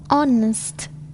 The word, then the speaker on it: honest: Silent H. H is not pronounced at the beginning of many words. Use the article an with unvoiced H. Here are some of the most common: hour, honest, honor, air, herb.